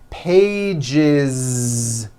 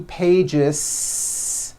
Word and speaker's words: pages: 1 page becomes 2 pages with that voiced Z. 2 pages. It's not 2 pages, unvoiced, no. It's 2 pages with a voiced Z.